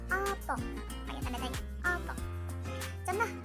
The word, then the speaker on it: apa: Tapi kalau bahasa Jawa kita bacanya opo, pakai tanda tanya, opo.